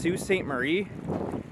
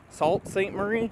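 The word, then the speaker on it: Sault Ste. Marie: it but it's like I think it's technically pronounced Sue St Marie but it's spelled s a u l t so s like sa maybe Salt St Marie I don't know but excited to get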